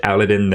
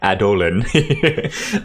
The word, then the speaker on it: Adolin: I don't know, I might have just said his, I totally just said his name wrong, but that's okay. Adolin. There we go, that's a little bit better.